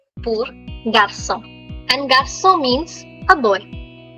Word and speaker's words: garçon: J pour garçon. Garçon. For any questions, you can always use the chat section. Garçon. N is silent.